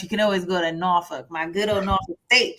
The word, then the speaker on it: Norfolk: I'm a proud graduate of the best HBCU, Norfolk State University in Norfolk, Virginia. So you guys, if you don't want to go to Morehouse, you can always go to Norfolk, my good old Norfolk State, child.